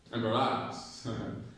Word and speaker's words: embarrass: So bar has the stressed syllable, okay?